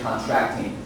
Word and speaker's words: contracting: This word on the second syllable, you don't slow. So you could read it again, contracting.